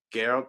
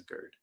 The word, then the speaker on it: Gerd: So Gerd is how you say her name. Geralt. No, I think it's Gerd.